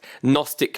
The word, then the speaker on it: Gnostic: found on the home page of his website Gnostic media gnostic spell with a soft G so